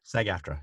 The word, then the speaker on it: SAG-AFTRA: it is is it sag-aftra is that how you say it sag-aftra yes okay gary is a